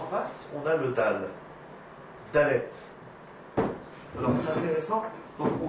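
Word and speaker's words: דלת: Donc cette lettre-là, comment est-ce que se prononce? C'est dalet.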